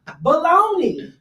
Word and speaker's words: bologna: Baloney. I said it. How is baloney spelled? I learned. Hey. Oscar Mayer taught us. I learned how to spell baloney by spelling Bologna.